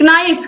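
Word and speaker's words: knife: तो यहां पर आप देखिए के एन आई एफ, नाइफ, लेकिन यहां पर इसको हम पढ़ते क्या, इसका शुद्ध उच्चारण है नाइफ, के क्या है यहां पर, साइलेंट है, के का उच्चारण नहीं हो रहा है, तो नाइफ हो गया।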